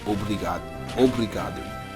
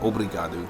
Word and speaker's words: obrigado: But in Portuguese, to say like thank you or thank you very much, you say obrigado, which is hard. It's hard for me to even pronounce, but obrigado.